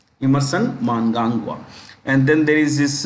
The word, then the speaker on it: Mnangagwa: Mnangagwa. You will find, there is an N here, no harm. I'm just writing phonetic spelling, what we pronounce basically. Mnangagwa. Emerson Mnangagwa.